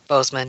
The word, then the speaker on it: Boseman: chadwick boss boseman am i saying it right boseman yeah yeah and posted a picture from said